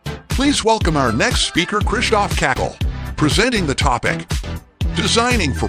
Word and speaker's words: Krzysztof Kąkol: My name correctly is pronounced Krzysztof Kąkol, but it's too hard even for artificial intelligence, which is absolutely an ultimate proof that AI does not exist.